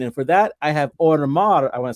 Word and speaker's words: Homar: I know in Spanish the H is silent, right?